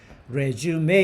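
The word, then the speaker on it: résumé: 빌딩 레주메 빌딩은 뭐야 레주메 이거 발음 조심해야 돼요 그죠 이게 어 좀 특이하게 생겼지 영어 같지 않잖아 이게 액센트가 막 꽂혀 있기도 하고 이게 레주메 여기 이건 프로예요 발음도 레주메 이렇게 발음하죠 뭐야 이력서 레주메 빌딩은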